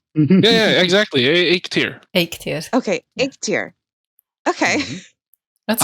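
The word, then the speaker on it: Eikthyr: Yeah, Eiktýr, just like that. Here. Okay, so almost. I mean, to me that almost sounds like egg tier, but with a better accent. Yeah, exactly. Eiktýr.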